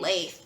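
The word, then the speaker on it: Lethe: called lefty i think the audiobook pronounced it lefty i was saying lathe but i don't know what it's what how you pronounce it but um she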